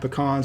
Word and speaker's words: pecan: pralines, you'll often find pecans at a Southern Thanksgiving. It's also worth noting that it's pronounced pecans when talking about just the nuts, but if you're talking about a pie, it's a pecan pie.